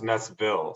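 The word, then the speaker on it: Næstved: FoG Naestved. Team FoG Naestved. Naestved. Yeah. And actually over here it's pronounced Naestville.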